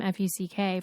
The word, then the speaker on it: Fuck: with the last name Fuck from Brazil. Do you remember that guy? No, I don't. In Brazil, it's pronounced Fuc, and he's like not in Brazil anymore.